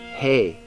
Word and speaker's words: Hey: Hey, like stuff horses eat.